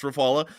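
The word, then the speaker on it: Rafale: We were able to confirm that the Republic of India has lost a Rafala fighter jet and that is correct. it is pronounced Rafala, an SU30 MKI and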